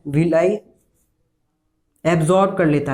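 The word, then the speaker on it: villi: In finger like extensions या projections को क्या बोलते हैं, विलाई, ठीक है, विलाई, या फिर कोई है विली भी प्रोनाउंस करते हैं, विलाई।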